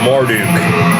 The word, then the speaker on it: Marduk: Dustin says Marduk. Yeah. And that's the proper way to say it, but I'm not going to say that. Yeah. I say Marduk.